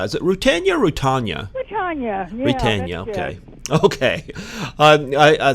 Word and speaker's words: Rutanya: Rutanya.